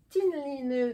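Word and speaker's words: Tynn Line: Ça se prononce, le Y en norvégien se prononce entre le U et le I. Tu fais un I avec ta bouche, mais tu prononces un I, un U. Ça donne Tinline.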